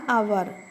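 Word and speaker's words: hour: Example: an അവർ, an honest man, an honourable woman. ഇവിടെ H silent ആണ്.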